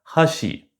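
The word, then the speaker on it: 橋: Par exemple, baguette et pont en japonais, ça se dit pareil, hashi. Mais si on respecte les règles d'accent, ça se prononce pas pareil. Hashi, les baguettes, hashi le pont.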